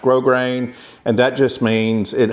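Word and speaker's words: grosgrain: r a i n it's not pronounced gross grain it's pronounced grow grain and that just means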